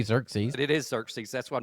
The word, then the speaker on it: Xerxes: It is Xerxes.